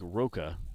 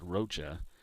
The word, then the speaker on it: Rocha: to roja jackson rocha it looks like roka the way it's spelled but it's pronounced rocha i said it wrong